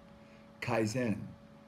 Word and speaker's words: Kaizen: has a quick video of me doing the pronunciation and my interpretation of what that word means Kaizen to improve or make good the Japanese often